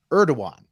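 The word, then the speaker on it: Erdoğan: forget okay speaking of Health scares Turkish president erdogan that's how they pronounce it is reportedly in critical condition after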